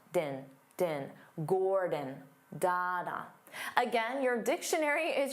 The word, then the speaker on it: Gordon: his name wrong because they pronounce it as da-da, Gordon, Gordon, da-da. But that's not how you say his name. But of course, he's polite and he never corrects the local chefs. His name is Dada, Gordon, Dada, Gordon, Gordon. Because the first syllable is stressed, gore, so the second syllable